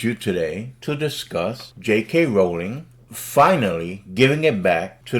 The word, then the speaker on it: Rowling: So, Rowling, and yes, that's how you pronounce Joanne Rowling's name.